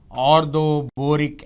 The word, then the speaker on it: orthoboric: And BOH thrice as usual is called H3BO3, orthoboric acid. Orthoboric acid. Acid, boron, ortho, IC once again, IC acid. IC. The emphasis is on IC, the stress is on IC.